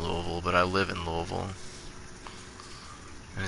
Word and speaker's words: Louisville: but I live in Louisville and it's not Louisville its Louisville I hate it I hate when people from other places come here and pronounce it Louisville oh my god are